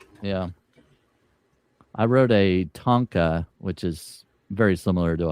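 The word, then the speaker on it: tanka: Yeah, I wrote a Tonka, which is very similar to a haiku. It's a tonka track. No, no. T A N K A Tonka.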